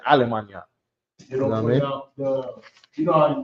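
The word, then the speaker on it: Allemagne: Or how do you say in French? Almana. Even though they spell it with a with a uh GN or GN A. Almana, right?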